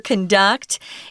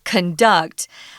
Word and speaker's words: conduct: this one matters so if it's the verb it has to be conduct so the emphasis is on ducked conduct whereas the noun is conduct so be careful if you use the wrong pronunciation people will have a puzzled